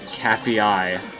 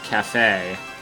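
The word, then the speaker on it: Kafei: Also, Skull Kid 3, when he played Majora's Mask, he pronounced them as Anju and Cafe-eye. And I think Cafe-eye sounds cooler than Cafe. But it kind of makes less sense.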